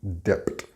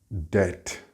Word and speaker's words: debt: Without exception, every one of my Spanish-speaking students pronounce the B in this word, but it is silent. It is not debt. It is debt.